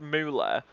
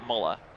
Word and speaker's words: Müller: And yes, I know he I know it's pronounced moola, but I'm British and we pronounce it muller.